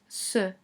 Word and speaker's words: c': In orange we have C with an apostrophe, which is pronounced ce, and translates as this.